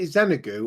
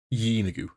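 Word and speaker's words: Yeenoghu: I was going to ask while Mark was gone, but obviously, is it Xenagu or Henagu? Yeenigu. Yeenigu.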